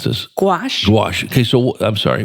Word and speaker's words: gouache: How do you pronounce this? Gouache.